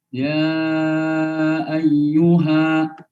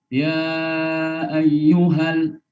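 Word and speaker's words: يا أيها: Jadi tidak boleh membacanya dengan begini. Ya ayyuhal. Keliru. Karena kata-kata al itu ada di kata yang baru. Dan itu di awal. Kalau mau berhenti, di akhir kata tertentu. Ya ayyuha.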